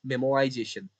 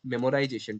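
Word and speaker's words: memoization: Third thing is आवर मेमोआइजेशन, मेमोआइजेशन नॉट मेमोराइजेशन, ठीक है, मेमोआइजेशन, ठीक है। मेमोआइजेशन, कंफ्यूज मत होना, ये मेमोराइजेशन नहीं है, ठीक है, तो अच्छे से प्रोनाउंस करना।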